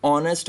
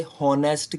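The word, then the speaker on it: honest: हॉनेस्ट वाले इस word में एच साइलेंट है और ये वर्ड की जो करेक्ट प्रोनाउंसिएशन है वो स्टार्ट होती है ओ से।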